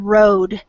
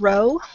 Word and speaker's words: road: The word road came out as this word, row, which is Road.